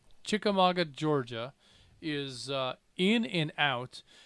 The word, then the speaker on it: Chickamauga: Also, we have Chattanooga 160 David in, let me try this, Chickamauga. Did I get that right? Yeah, the U is silent. Chickamauga, Georgia is in and out.